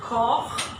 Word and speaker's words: Koch: So also, the first is pronounced machen, the second koch, and the third Buch. All from the throat.